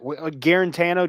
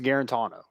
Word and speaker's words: Guarantano: you say it i'm not saying it like that guarantano try to do the same thing i'm not no his name is guarantono you are what you